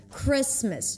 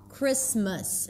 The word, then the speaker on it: Christmas: Christmas. Notice the pronunciation of the word Christmas. It's a relaxed I, Chris, and then it's a schwa. Christmas, it's not the same sound.